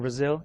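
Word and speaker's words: Brasil: day Brazil I'm from Brazil and how it sounds like a Z but it's spelled with an S so orthography infomatics InfoSec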